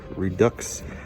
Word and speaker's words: Redux: Or Redux. I pronounce the X. It has an X in it, so I'm gonna pronounce it.